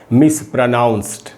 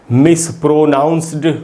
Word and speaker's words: mispronounced: ये बता दूं कि इस वर्ड को पढ़ना चाहिए मिसप्रोनाउंस्ड, इसको मिसप्रोनाउंस्ड नहीं पढ़ना है। एंड में जो डी है इससे ड का साउंड नहीं बनेगा, ट का साउंड बनेगा।